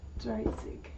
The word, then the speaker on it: dreißig: dreißig Please don't kill me if that's a z. I can't remember whether z or an s, but it's pronounced zig.